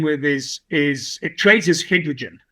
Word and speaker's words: Hidrigin: Yeah, well, the company we're dealing with is it trades as Hidrigin, which is sort of just hydrogen, but lots of I's in the place of any other syllable. But it's Hidrigin, which is actually the